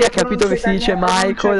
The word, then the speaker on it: Michael: Dopo un tot di anni ha capito che si dice Michael e... Due schiaffi. Kirim e Michael. Fanculo la pronuncia in inglese.